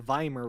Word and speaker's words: Weimar: Vai murmur find abused pronounce as a V in German yeah the Weimar Republic Republic yeah everyone